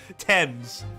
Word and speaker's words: Thames: routes to one's final terminus that's right tens the thames the thames apologies i usually have no reason to pronounce that word in everyday like uh conversation